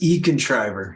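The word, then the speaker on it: econtriver: your business there Nick it's e-contriver it's kind of like a builder like a contriver but it's uh e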